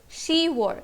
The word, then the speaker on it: 시월: Because it is difficult to pronounce 십월, pyup is removed from ship and we are left with she. Okay, so October is 시월.